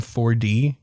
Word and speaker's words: Forde: to put these together that Adam Forde is Adam Ford. The four is a mean you say it like the one number four.